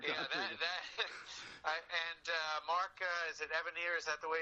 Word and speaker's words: Evanier: And Mark, is it Evanier? Is that the way it's pronounced?